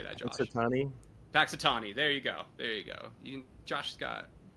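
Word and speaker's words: Punxsutawney: Paxitani.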